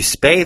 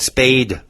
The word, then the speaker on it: spay: Folks, when you take your dog to the vet, it's a female dog, you spay the dog. You don't spade the dog.